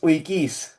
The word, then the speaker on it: Uikys: Ramunas Wikis. Wiki. I'm I'm absolutely useless. I'm not even going to try and pronounce it with the accent.